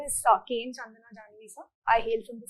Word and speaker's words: Chandana: Chandana? Yes, sir. Good afternoon. Good afternoon. Please sit down. Thank you, sir. So, have I pronounced your name correctly? Yes, sir. Chandana is right?